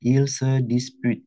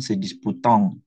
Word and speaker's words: il se dispute: Tolong ya, ini bacanya il se dispute, bukan se disputant.